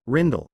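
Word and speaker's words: Rijndael: Advanced encryption standard the advanced encryption standard AES also known by its original name rained all Dutch pronunciation rindell 3 is a specification for the encryption of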